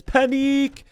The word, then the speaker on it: panique: And I think they said it's panique.